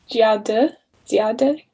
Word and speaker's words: Dziady: I looked up how to pronounce it. I think it's Dziady, something similar to that.